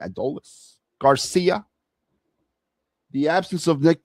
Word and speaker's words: Adolis: So with the changes with Justin Crawford and Adolis, that's how you say his name, Adolis Garcia, the absence of Nick Castellanos, and I'm